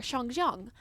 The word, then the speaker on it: Shangjiang: So they pronounced the A correctly there, Shangjiang. But in the narration, it was the Western ang sound.